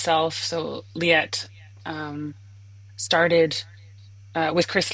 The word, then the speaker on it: Leatt: about your um sales and brand manager of leet and did I pronounce that right leet so it's leet leet oh I am so